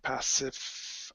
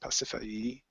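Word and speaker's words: Pasiphaë: Let's see, it's Pasiphae, I think it's pronounced Pasiphae, which means wide shining.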